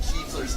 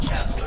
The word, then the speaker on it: Kiefler: 6 minutes to get Kiefler's name right? Not Keffler, Kiefler.